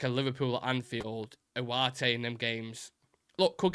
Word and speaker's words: Ugarte: Nick, where exactly are you getting the W when you pronounce Ugarte? It's how South American journalists pronounce it.